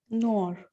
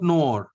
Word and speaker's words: noir: Noir. Not noir. It is noir. Noir. Noir. Black. Because OI is OA.